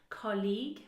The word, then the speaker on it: colleague: But get used to it, because for example, this word colleague is mispronounced because it's often confused with college, okay? So look at the transcription, colleague, a nice long vowel sound, and college, a short vowel sound, college, short, colleague, college, all right?